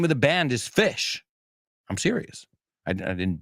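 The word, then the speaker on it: Phish: their logo they uh they spell it pH like telephone or Pharmacy fish and great band uh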